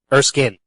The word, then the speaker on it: Erskine: to talk to Maya Erskine. Erskin. Damn it, I knew I was going to do that. Yeah, we've been pronouncing it wrong this entire time. It's actually Maya Erskin, not spelled like Erskine.